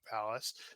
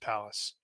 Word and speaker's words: Pallas: me and according to according to Google it is pronounced Palace and we know Google